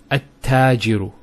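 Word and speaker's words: التاجر: the huruf shamsiyya, notice here, we have at-tajiru. At-tajiru. There's a shadda there.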